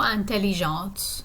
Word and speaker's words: intelligente: So, je suis plutôt intelligente, meaning I'm pretty intelligent. And notice, because I'm using the feminine form, that I'm putting the E on the end and I'm pronouncing that T.